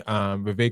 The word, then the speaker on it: Vivek: Vivek Ramaswamy, Vivek rhymes with cake, got a wake-up call when he invited the most racist woman in America, Ann Coulter, onto his podcast.